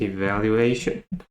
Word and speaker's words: evaluation: And next we have the noun of evaluate, which is evaluation. So evaluation. Evaluation. And now the stress become the fourth syllable, evaluation.